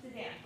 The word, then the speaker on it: Suzanne: Is it Susan or Suzanne? Suzanne.